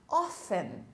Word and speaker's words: often: Often, frequentemente, often. Percebam que nós não falamos a letra T, não pronunciamos a letra T.